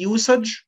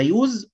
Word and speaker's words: use: يبقى استخدام ممكن تيجي use تكتب يو اس اي بس تتنطق بالاس، وممكن تيجي يوسج برضو يعني استخدام، يبقى يوس ويوسج ده ناون، انما يوز ده فيرب بمعنى يستخدم.